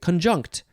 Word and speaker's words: conjunct: see conjunct or con conjunct still emphasizing the second syllable we have two forms